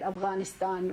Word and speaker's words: Afghanistan: I think Biden tried to correct her when she said Afghanistan, which is the proper pronunciation, and he's like, Afghanistan?